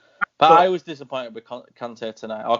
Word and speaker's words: Conte: But I was disappointed with Conte tonight, or Conte as it gets pronounced.